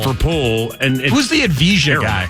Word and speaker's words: Avdija: Well, they traded for Poole, and who's the Avdija guy? How do you pronounce that guy's name? Demi Avdija or something.